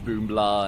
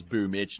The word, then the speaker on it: Boomich: We used to call Boomich Boombla, and then it became, oh, it's actually in Acrylic, like BL4 or whatever it is pronounced with an itch sound, so it's Boomich, not Boombla.